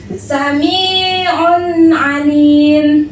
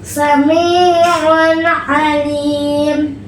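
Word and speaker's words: سميع عليم: Samiun alim. Samiun alim. Oke, coba ee tanwinnya dijelaskan ya. Karena izhar ini dibaca dengan jelas dan terang.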